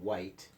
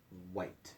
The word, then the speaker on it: white: W words which and white is that the H is silent on both of those we're not really hearing that each on those words so which white so we're hearing that